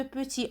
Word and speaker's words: petit: prend on sait pas un petit chapeau le thé à la faim de p'tit on le voit on l'écrit mais on le prononce pas pour ne pas se